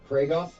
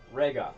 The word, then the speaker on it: Regoth: of you, Uthgar, and how do you say your name again? Pragoth? Regoth.